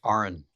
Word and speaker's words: Aron: So Aaron, welcome to the show, brother. It's pronounced Aaron, please.